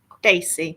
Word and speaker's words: Dacey: Is it Mr. Darcy or Mr. Dacey? How do you say his name? Dacey, but we like to call him Mr. Darcy.